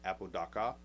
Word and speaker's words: Apodaca: Well, in reality, his name is pronounced Apodaca because he has a A on the end.